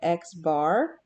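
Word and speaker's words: x̄: this x with a line over top it's pronounced this way this is the way you say it x bar and it means sample mean all right so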